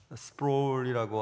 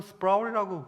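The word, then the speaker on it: Sproul: 가끔 말씀드린 R.C. 스프롤이라고 한국 발음을 하는데 거기서는 스프라울이라고 발음을 하던데요.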